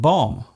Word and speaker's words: bomb: For example, the B in comb, womb and bomb.